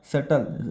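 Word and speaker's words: subtle: था बट लेकिन अ सटल B silent सल vibration failed in deep meditation ठीक है सल का मतलब क्या होता है बी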